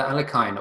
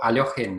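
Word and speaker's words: Alekhine: in 1915 by um alexander alakine or aliochen if you want to pronounce his name correctly um against some kind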